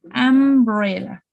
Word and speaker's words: umbrella: Umbrella. So my pronunciation is going to start with a vowel, umbrella.